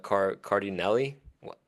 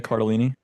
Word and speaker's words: Cardellini: But I just love Lisa Cardinelli. Is that how you pronounce her name? Sure. Linda Cardellini. Linda Cardellini.